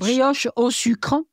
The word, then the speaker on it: brioche au sucre: at all, is the brioche au sucre, I think. Mm-hmm. Tell me if I'm pronouncing that correct. Which, brioche au sucre? Yes, that sounds a lot better than what I said.